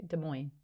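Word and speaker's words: Des Moines: the time yes I do yes I do de Mo okay yeah I would never have gotten that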